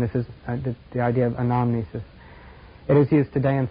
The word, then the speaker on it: anamnesis: A-N-A-M-N-E-S-I-S, anamnesis, or any way you want to pronounce it.